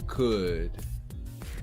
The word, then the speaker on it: could: using would or could the l is silent would or could if the words are